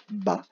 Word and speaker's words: bas: mot c'est le moba une seule syllabe bas trois lettres b as on peut penser à la lettre muette de la femme en